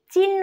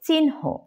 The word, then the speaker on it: চিহ্ন: এন এইচ উচ্চারিত হয় যেমন চিহ্ন এটাকে অনেকেই চিহ্ন উচ্চারণ করে থাকে এটা হবে চিহ্ন সায়ানহ নিশ্চিহ্ন বনহি মধ্যানহ চিহ্িত এরপর আসুন হ